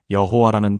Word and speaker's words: 여호와: 그래서 하나님 이름의 자음에 아도나이의 모음을 합쳐서 여호와라는 발음을 만들어 낸 겁니다. 여러분, 이게 무슨 뜻인지 아시겠습니까? 여호와는 원래 이름이 아니라 두 단어가 합쳐진 혼합 발음이었던 겁니다.